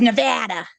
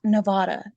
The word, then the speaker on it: Nevada: And in case you didn't know, Nevada, the state is Nevada. It's not Nevada. Don't be dignified when you say it. It's Nevada.